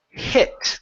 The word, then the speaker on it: hit: Let's go to the word hit. Give me a short I here instead of heat the steps. Hit the steps.